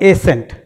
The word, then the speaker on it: ascent: एशेंट और एसेंट, इस पर, इसके प्रोनाउंसिएशन पर आप थोड़ा सा कंसंट्रेट करेंगे माइंड को।